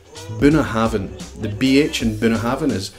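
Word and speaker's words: Bunnahabhain: frost CH and drop the second one Bruichladdich buna havin the bh and binner happiness made to sound like a soft v so it becomes burner Haven if you say been a haven nobody's gonna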